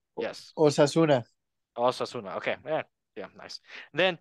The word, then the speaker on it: Osasuna: Asunción? Yes. Osasuna.